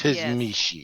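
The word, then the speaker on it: Tzimisce: yes, Tizmishi.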